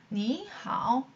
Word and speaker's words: 你好: 你好你们好你好 니하오. 삼성이 연달아 나올 경우에는 앞에 삼성은 이성으로 발음해주고 표기는 그대로 둔다.